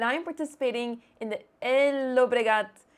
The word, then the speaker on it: Llobregat: I am right now in Spain and I am participating in the Llobregat. I know I should not pronounce the L's, but Llobregat Chess Open.